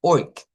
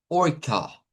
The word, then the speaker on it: orca: Esta, miren, usted dijo hasta la K dijo algo como orc, pero aquí hay un sh al final. Entonces, debemos decir orka.